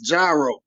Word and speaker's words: gyro: I go up there they're like no it's gyro but if you ask